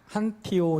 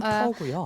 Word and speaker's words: 한터: first 저는 question, 뭐 한티오 또는 한태오 이렇게 많이 외국에서 말씀하시는데 실제는 한터고요.